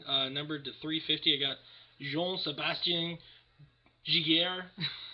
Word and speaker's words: Jean-Sébastien Giguère: I got Jean-Sébastien Giguère. I think that's how they pronounce it in Quebec. Jean-Sébastien Giguère.